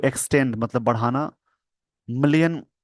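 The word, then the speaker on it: Malé: भारत का जो 100 million in SBI subscription of Maldivian T bills enable करता है मेल to make it's date sorry क्षमा चाह इसको माले बोलेंगे माले मैंने इसको मेल पढ दिया इसको आइए दोस्तों थोड़ी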